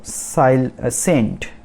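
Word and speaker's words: scent: तो सेंट। सेंट, SENT मतलब ACNT, ए pronunciation होगा, और जो C है वो साइलेंट है, तो इसका मतलब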